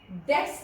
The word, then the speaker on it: debts: डेट्स जब हम लिखते हैं तो बी लिखते हैं बट इट is silent, so इट is called as बैड डेट्स.